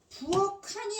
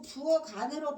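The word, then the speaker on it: 부엌 안: 키우기네 대표 자 내가 지금 거꾸로 얘기했잖아요. 부어칸이 아니고 부어간으로 발음되는 이유를 말하려면 1번으로 말해야 되는게 뭐라 그랬어? 모음으로 시작 아니 모음으로 시작하는 실질 형태소이기 때문에 알았지?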